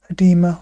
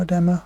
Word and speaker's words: edema: So it's called edema or edema, some people pronounce it.